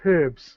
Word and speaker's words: herbs: who lives in England, you pronounce it slightly different than Americans. Is that true? What herbs? You're going to say herbs, right? And I think that Americans pronounce it herbs, but not that that matters, but I think that that's an interesting delineation there. Yeah, you miss out the H for herbs.